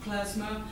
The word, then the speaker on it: klezmer: Oh, klezmer music. It's pronounced klezmer. Oh, right, yeah, klezmer.